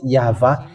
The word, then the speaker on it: יהוה: And it's the book of Torah, which says that we call it YAHVAH, and that's how we read it in heaven of heavens. YAHVAH. And those who call that YAHVAH, they're washed away from their sin, and they cannot sin anymore.